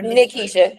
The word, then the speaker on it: Nikesha: Am I pronouncing your name right? It's Nakisha or Nakisha?